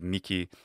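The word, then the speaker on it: mihi: That's another variant in ecclesiastical pronunciation to make the H a K sound in words like nikil and miki.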